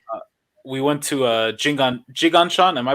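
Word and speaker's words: Jinggangshan: we went to uh we went to uh jiganchon am I pronouncing it right yes yes yes dude it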